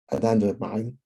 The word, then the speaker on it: anandamide: And then when I come back to it, I get the good stuff, the dopamine, endorphins, and the anandamide, that's how you pronounce it, which allegedly do the good work against the plaques that are building up in the brain.